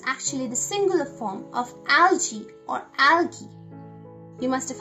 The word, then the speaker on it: algae: So it's alga and the plural is algae, and it can also be pronounced as algae.